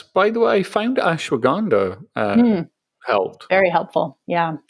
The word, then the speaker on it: ashwagandha: it was stress by the way i found ashwagandha um helped very helpful yeah thank you i think is how you pronounce it yeah very very ashwagandha's super powerful